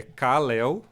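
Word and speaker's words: Kal-El: É, é Cel, né? Só que ele se escreve cal, né? Apóstrofo e, né?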